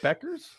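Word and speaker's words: Bueckers: right buers Beckers yeah from Yukon bu e k RS y buer Beckers Beckers pronounced Beckers yeah that is correct Beckers ped buer day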